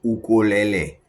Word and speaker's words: ukulele: The proper pronunciation in Hawaii, where these are designed for starters, is ukulele.